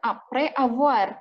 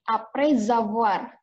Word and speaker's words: après avoir: Jadi kita bacanya bukan après avoir, tapi après avoir. Walaupun ada spasinya, tetap kita nyambung bacanya.